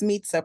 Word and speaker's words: Mitza: It's Meetza, pronounced like it sounds like pizza. That's how everyone remembers it.